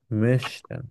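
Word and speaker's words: müssten: Precise যদি না হয় তখন এটা বোঝা যাবে হচ্ছে মুস্টেন, আপনাকে বলতে হবে মেশটেন।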